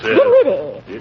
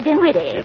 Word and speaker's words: Dinwiddie: Dinwiddie. Henrietta Dinwiddie. With an N, not an M. And the accent on the widdy, not on the din.